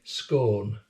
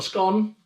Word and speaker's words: scone: and do you notice how i pronounce it properly scorn it's not a scone number two so i'm